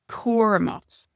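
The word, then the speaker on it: cúramach: And then careful is cormot. Cormot. Cormot. So we just have the guttural sound at the end.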